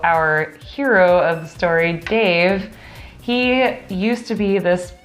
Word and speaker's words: D4VE: Now, Dave is spelled D4VE. Yes. So in case you're Googling it and you can't find it, it's D4VE.